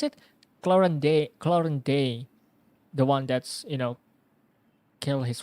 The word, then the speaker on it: Clorinde: How do you pronounce it? Clorinde.